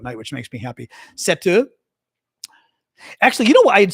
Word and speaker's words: Sept: And they were pronouncing it Sept Septur, like pronouncing Set with the P.